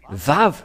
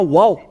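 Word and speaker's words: וָו: lorsque nous voyons cela nous voyons bien que c'est vave la vraie prononciation mais pas waou c'est bien un V parce que ils ont il y a ceux qui sont ont créé le waou va W c'est un peu étonnant car même si c'est wa ça se prononce vave ou que vous soyez c'est toujours le vave et nous allons revoir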